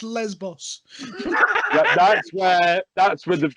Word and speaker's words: Lesbos: steve just said no jeff there is no liz boss is not a country foreign first of all jeff it's pronounced lesbos that's where that's with the thing with triathlon